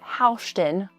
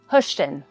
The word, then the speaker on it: Hoschton: It's Hoschton, not Hoschton. Think hush, like push. Hoschton.